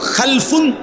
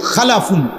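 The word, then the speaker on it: خَلْفٌ: হল খালফুন আরেকটা হল খালাফুন একই শব্দ শুধু উচ্চারণের মধ্যে একটু ভিন্নতা মাঝখানে একটা লাম আছে এই লামটার মধ্যে যদি সাকিন হয় তাইলে হল খালফুন আর যদি লামের মধ্যে জবর হয় তাহলে হল খালাফুন আরবি শব্দ এ খালফুন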